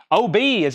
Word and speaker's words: Obi: mean OB and OG OB is actually spelled OB y That's Japanese that means this thing right here Obi OB Obi I'm saying OB but it's spelled OB y OB I OB letter I that's all caps all together that means sash in Japanese that is this strip that